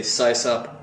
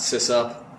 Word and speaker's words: sysop: a cis-off oh by the way I say size up not sis up so yeah system operator CIS off if anybody's